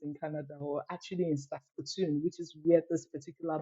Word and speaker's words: Saskatoon: novel which is titled leave my bones in ston yes I got the pronunciation of that right yay trust me before